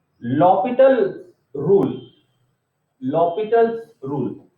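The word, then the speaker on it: L'Hôpital: तक तो हम भी एल हॉस्पिटल रूल कहे जा रहे थे। फिर जब कभी कुछ कॉन्फ्रेंसेस वगैरह अटेंड की और कॉन्फ्रेंसेस में जब इसका एक्चुअल प्रोनाउंसिएशन लिया गया तो लॉपिटल रूल, तब से हम भी धीरे धीरे लॉपिटल रूल बोलने लगे।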